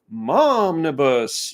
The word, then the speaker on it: momnibus: I think the microphone goes to me now for another story, and this one rhymes with omnibus, but it actually is momnibus.